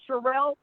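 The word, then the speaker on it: Sherrell: name is sure is Cheryl it looks like Cheryl but it is pronounced Cheryl and that spelt sh e double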